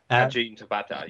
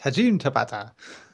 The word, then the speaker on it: Hajime Tabata: Tabata, how do I say it right? Yeah, Hajime Tabata. Yeah, that's it. Yes, Hajime Tabata. It's like, it doesn't sound like a ciabatta at all, honestly.